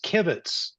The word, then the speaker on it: kibitz: um correction oh yeah the the um yish pronouncing pronunciation is kibitz kibit it's like kibble with a at the end thank you so much